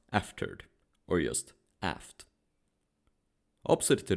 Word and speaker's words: afterward: The entire back section of the ship is called the afterward, pronounced aftered, or just aft.